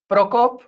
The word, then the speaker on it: Prokop: So, my name is pronounced proopa and it's very hard for basically anybody who's not native check.